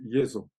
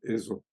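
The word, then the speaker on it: 蝦夷: sous ce nom de Yo on prononce aujourd'hui eo parce que le son y comme tu sais euh n'est plus n'est plus admis dans les les de ciles laab japonais shiragana katakana donc on lit ce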